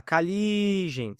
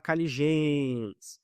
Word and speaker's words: caligens: Você fala caligens, você não fala caligên. Então, a última sílaba tônica é o li.